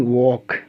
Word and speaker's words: walk: अब हम के का लेते हैं, के के साथ देखिए जैसे है TALK, not talc, WALK, वाल्क, talc नहीं टॉक, वाल्क नहीं वॉक।